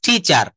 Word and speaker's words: teacher: my English ঠি চা এটা কিন্তু ব্রিটিশ একসেন্টের ঠি চা আবার আমেরিকান একসেন্ কখনো কখনো টিচারও বলা হয় আমি শুনেছি তো আমরা ব্রিটিশরা যদি ফলো করি ব্রিটিশ ফলোয়ার যারা টি চা আই এম এ টিচা আইম এ টিচার বলা যাবে না কি বলা যাবে না